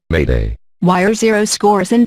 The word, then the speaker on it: m'aider: This comes from the French word m'aider, meaning help me, and is pronounced, approximately, Mayday.